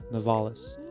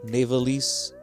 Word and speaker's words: Navales: with my last name novalis n-a-v-a-l-e-s and i've had many people mispronounced misspell it over the years i've had navalese novalis with the oh nevildes and and because my first